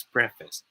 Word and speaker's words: preface: yeah it's pronounced this preface all right so i hope you guys are learning so far you know so we thought that this pronounces preface whereas it should be pronounced as preface say it with me